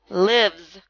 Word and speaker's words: lives: to have to memorize it's not a long I sound it's lives cage however has a